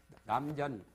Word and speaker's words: 남전: 버렸어요 그게 화주에 나오죠 남전 발음을 전자로 합니다 김천 할 때는 세물 천장인데 남전 참여라 궁화